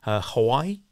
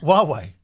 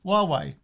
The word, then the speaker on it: Huawei: Oh, Huawei. How do you say it? Huawei. The Chinese company. Yeah, it begins with an H. Not Hawaii. Huawei.